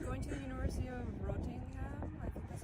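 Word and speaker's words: Reading: she's uh she's going to the University of rotting yeah that's how you say it and uh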